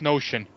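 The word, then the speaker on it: Knowshon: I think that's pronounced Notion.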